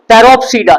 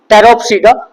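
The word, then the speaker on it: Pteropsida: और उसके बाद टेरोप्सीडा, इसका पी साइलेंट है, टेरोप्सीडा।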